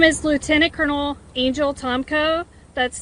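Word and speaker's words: Tomko: My name is Lieutenant Colonel Angel Tomco. That's spelled A N G E L. Last name is Tommco.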